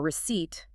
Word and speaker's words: receipt: This phenomenon, adding silent letters to indicate Latin heritage, also occurs in words like debt, silent B, or receipt, silent P.